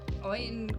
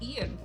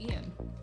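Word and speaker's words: Eoin: It's Ian. Oh, it's pronounced Ian. Ian Colfer.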